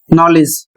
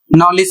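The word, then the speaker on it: knowledge: तो याद करने का सिंपल सा तरीका है के एन से यदि शब्द शुरू होता है तो वहां पर के हमेशा साइलेंट हो जाएगा।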